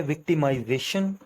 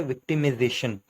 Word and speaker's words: victimization: एक है विक्टिमाइजेशन और दूसरी है विक्टिमाइजेशन। आपने इसमें माइनर से एक फर्क देखा होगा, माइजेशन और मेजेशन। तो ये दोनों ही प्रोनाउंसिएशन ठीक हैं। एक अमेरिकन है और दूसरी ब्रिटिश है।